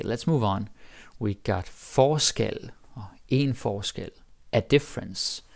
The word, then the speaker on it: forskel: Now the pronunciation is also different, right? Forskel, forskellig, different stress.